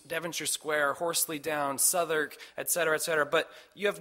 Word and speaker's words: Southwark: And south of the Thames is Southwark. It looks like Southwark, and I called it that, and my dad said, oh, it's actually Southwark.